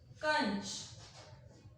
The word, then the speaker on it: कांच: उसके बाद हम लिखते हैं कांच। उच्चारण में समय ज्यादा लगेगा और आवाज जो है वो नाक से होते हुए गले से बाहर निकलेगी। तो यहाँ क्या आ जाएगा